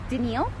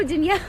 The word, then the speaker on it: Danielle: i meet him everybody because i say my name so fast people just i go how many danielle they go denial danielle and i go no danielle have you ever met